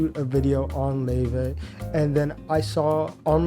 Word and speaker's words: Laufey: LAUFEY.